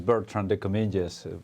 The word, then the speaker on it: Bertrand de Comminges: My name is Bertrand de Comminges, pronounced in English, and I'm the leading investment manager for trade finance assets in Santander Asset Management.